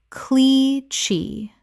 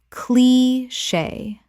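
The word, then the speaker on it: cliché: faux pas faux pas Word 205 cliche Common mispronunciation clee-chee Correct pronunciation clee-shay Two syllables with the CH making a SH sound from French. Example I know it sounds like cliche, but moving abroad truly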